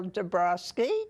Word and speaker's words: Dabrowski: for the record please my name is de Broski de Broski is spelled Diaz and Donald a BS in Boston